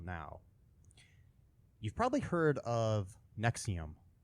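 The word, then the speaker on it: NXIVM: anyways okay the um Nexium is NX I VM is how it's spelled it is a uh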